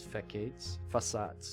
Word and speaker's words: facades: Facades?